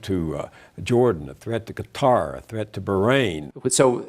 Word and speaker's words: Qatar: is a country and the pronunciation in English actually changes a little bit I personally prefer Qatar but some people say cutter Sky tracks in 2015